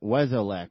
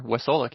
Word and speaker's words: Wesolek: We have James Weslech on with us today. Am I pronouncing your last name correctly? You are. Wesolic. Yep.